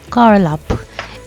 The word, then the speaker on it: Galup: Just recently, as of 2025, the official name for Lake Monger has been changed to GALUP, which is pronounced as Karlup.